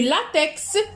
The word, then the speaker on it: latex: Du latex, X se prononce.